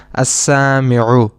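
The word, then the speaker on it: السامع: We directly connect the hamza with the sin and we pronounce this noun as as-sami'u.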